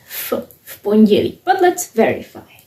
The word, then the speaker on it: v: Now you understand why we pronounce it as fi but let's verify.